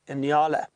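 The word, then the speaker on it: nyala: known as the Anala that is spelled n y a l a inala and the inala has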